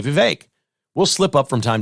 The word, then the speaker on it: Vivek: But Vivek's playing that card because he can, and he should.